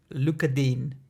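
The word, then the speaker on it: Digne: that we all want to get rid of Luka Dean which I've established now is how you pronounce his name look at do we the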